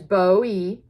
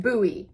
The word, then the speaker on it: Bowie: and it tells you how to pronounce Bowie okay which is Bowie you can also say it buoy they're saying and it